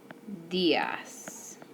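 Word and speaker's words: días: means good morning and if you notice when you see a D in Spanish it's a little bit softer so it's not des its vs vs okay and next we are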